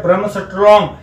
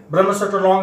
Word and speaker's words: Bremsstrahlung: भी दिया गया है जिसको बोला जाता है ब्रह्मस्ट्रॉन्ग। ब्रह्मस्ट्रॉन्ग के स्पेलिंग है BREMSSTRAHLUNG।